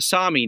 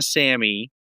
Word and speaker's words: Sami: okay so the the the Sami not the Sammy uh as I was saying earlier you you know you chastised me for mispronouncing it.